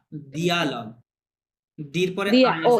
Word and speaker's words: dialogue: un interview, a dialogue, না ডায়ালগ না, দিয়ালগ, ডির পরে dia, আই oh আছে, e, হ্যাঁ রশি, dialogue, দিয়ালগ, রাইট, দিয়ালগ।